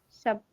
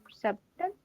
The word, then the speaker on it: subtle: Subtle. Subtle. Subtle. It is subtle. Yes. So B will be silent.